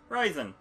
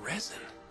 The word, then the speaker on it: resin: Risen. Or risen. Huh. Or resin. Resin. I said it wrong.